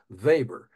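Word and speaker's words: Weber: the way it's web R even though it's pronounced the vber max vber the great and by the way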